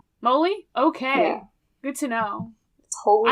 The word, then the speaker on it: moly: here how to prounce is it holy Moly Moly not not Molly molum like I have no idea it is Moly Moly okay good to know